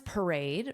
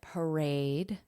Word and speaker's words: parade: China's parade. Remember that pronunciation? Parade. parade. The syllable stress is on the second syllable aid.